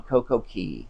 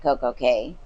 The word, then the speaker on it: CocoCay: I've heard it 2 different ways. I've heard CocoCay it K and Key. Yes, I called it Key, and somebody was like, it's or K, and they're like, it's pronounced Key. I'm like, well, it says CAY, but then the captain was calling it CocoCay.